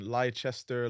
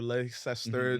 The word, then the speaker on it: Leicester: I remember before that most people were saying lie Chester Leicester be like people couldn't even pronounce their name correctly is that the craziest